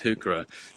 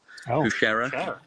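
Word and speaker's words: Heuchera: I heard someone pronounce hooker as hera. Husher. Yeah. And I've never heard that before. I've heard Yeah. Husher. I think they were trying to pronounce like a French. Probably is French.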